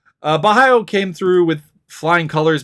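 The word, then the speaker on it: Borralho: just not uh uh kyle barello or bohayo pardon me uh versus armin petrosian i always gotta remember that's how it's pronounced uh bahayo came through with flying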